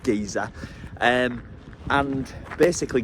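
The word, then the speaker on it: Geysir: arrived at Giza um my sat's pronouncing it Jesus but I don't really feel comfortable saying it like saying that because it's not pronounced like that so I'm just going to carry on with gizer um and basically gizer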